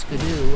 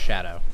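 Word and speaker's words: Scadu: I don't know if you guys know this, but it's actually not pronounced skidoo. Apparently, that is supposed to be pronounced shadow. It's like an old English spelling.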